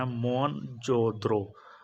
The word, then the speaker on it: मोहनजोदड़ो: जिले में स्थित है मोहनजोदड़ों का सही उच्चारण मोहनजोद्रो तो उसका मुंह ऑन